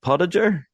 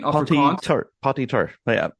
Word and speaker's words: Potgieter: so pronounce my surname it's pot like a pot that's just like a little e but with a to it or that we roll our ass in poty tur yeah have you ever